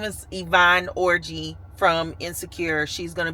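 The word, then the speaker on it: Yvonne Orji: I always say Ivani Orgy, but that's not how you pronounce the name. Her name is Yvonne Orgy from Insecure.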